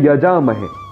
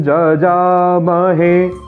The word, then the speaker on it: यजामहे: फिर आगे आप ध्यान दीजिएगा, यहाँ लोग कहते हैं यजामहे, जबकि वेद का नियम है कि अधिकतर य का उच्चारण ज होता है। तो यहाँ पर हम त्रयंबकं जजामहे ऐसा उच्चारण करेंगे।